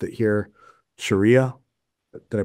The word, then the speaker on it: Sharia: Sharia. Did I pronounce it right?